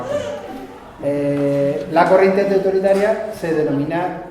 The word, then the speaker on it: Bakunin: Cuya figura en aquel momento más conocida fue Bakunin, o Bakunin, se pronuncia Bakunin, lo hemos castellanizado y decimos Bakunin.